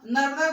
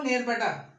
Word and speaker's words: नर्मदा: तो जो सागर था, क्योंकि इंग्लिश जो अंग्रेज थे उनका जो प्रोनाउंसिएशन था, सागर को वो सागौर बोल रहे हैं और नर्मदा को वो नेरबटा कहा जा रहा था।